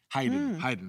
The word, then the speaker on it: Haydn: Haydn is how you pronounce it.